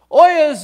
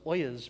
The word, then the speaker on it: oyez: You might be going, wait a second, what in the world does oyez mean? Well, oyez, which is actually derived from the French, oyez, means to hear.